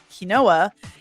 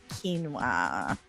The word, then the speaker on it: quinoa: of other oils and I was pronouncing it as it was spelled kinoa and my oldest daughter laughed at me she's like it's quinoa quinoa and I was